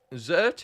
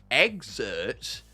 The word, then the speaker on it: Zert: Zert is pronounced exert, not zert.